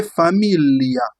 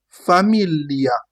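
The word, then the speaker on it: famiglia: You will not say familia. No, you say familia mean that this is g I becomes. You say what? Familia. Familia. Familia. Because we have this sound le that is what we call family in English.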